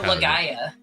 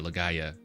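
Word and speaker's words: Legaia: okay um Lord beerus he teaches us how to pronounce a legend of dragon and legend of Lea Lea yeah okay Legend of Lea Ora legaya oh gotcha gotcha legaya it's how they the they're pronounced their PS1 jrpgs see lord beerus is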